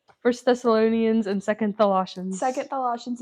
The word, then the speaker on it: Thessalonians: Wait, actually, I do remember we were talking about First Thessalonians. Thessalonians. What did I kept calling Tholossians.